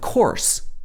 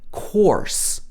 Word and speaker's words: course: course of course again this is a long or sound if this was in the american english accent it would be of course or this would have an r-colored vowel sound here more like this er sound course but in the british accent it's course so if you really